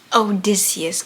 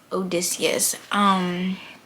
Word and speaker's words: Odysseus: Odysseus, guys. That's how you say it. Odysseus.